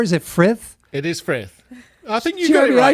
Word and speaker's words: Frith: It is Frith.